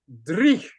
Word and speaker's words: dreich: So I said, there's a Scottish word, and I don't know how to spell it, but it's called dreich. And I think it's spelled D-R-E-E-C-H.